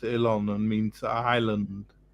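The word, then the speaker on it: Oileán: uh ilon the it spells oen but it's pronounced ilon and means Island not not as in the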